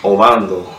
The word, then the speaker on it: Obando: But give them the breakdown why it's pronounced Bando. It's the Bando. It's really pronounced Obando. It's Colombian.